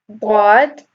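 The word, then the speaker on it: ض: Dad is a Tafkheem letter. When you're pronouncing it, you raise your tongue up. Versus Dal. Notice how you're not when you're pronouncing Dad, your tongue is going up and pressuring that sound up.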